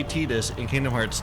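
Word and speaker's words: Tidus: No, the writer has chimed in like it it is Tetus and there is a reason in the Japanese language why it's Tetus because his name mean in in Okinawan dialect of Japanese, his name means sun.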